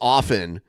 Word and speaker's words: often: is traditionally silent pronounced often but pronouncing it often has become common especially in American English due to a speak as you spell movement. Though the silent t remains prevalent in British English and is considered standard